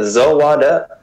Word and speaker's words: Zawada: right yes that's correct it's just like it's spelled zou wada nice do you want